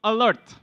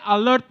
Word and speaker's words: alert: For example, A-L-E-R-T, alert. You don't say alert, you say alert.